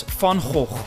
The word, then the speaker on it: Van Gogh: Dutch painter in history then go which we pronounce in Dutch as fun whole the vincent van gogh museum has 1.5 million visitors per year and